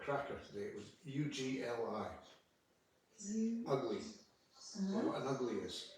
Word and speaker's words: ugli: Lovely word, an ugly. I think you probably pronounce it oogly rather than ugly. Well, I pronounce it ugly.